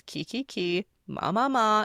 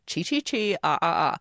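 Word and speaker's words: ki ki ki ma ma ma: If anyone asks, it's Kiki Ki, Ma Ma Ma, and you can say it like that. Not chi chi chi, ah ah ah, and get really sassy and attitude and know it all about it, okay?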